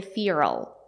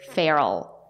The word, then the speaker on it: feral: Savage in American English native speakers do not say FAL they say feral F like in bed